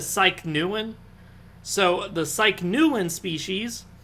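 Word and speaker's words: Psychneuein: I'm a total dumbass it's spelled psy CH n e ue I n I pronounce a psyche neuen so the psyche Nuland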